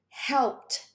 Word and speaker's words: helped: Now we have the t sound. So it's almost like the E doesn't exist. Okay? So when do we have the t sound at the end? Whenever my verbs end with a P, K, SH, CH, GH, TH, SS, C, and X.